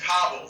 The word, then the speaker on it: Cano: cool so thank you the way you pronounce it is kabul like cabo st lucas like the actual land